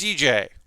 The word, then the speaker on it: Dijeh: of research and sometimes i thought i knew how to say the name of this kit and then i watched videos and four youtubers agree it's dj so i'm gonna call it dj um it's always really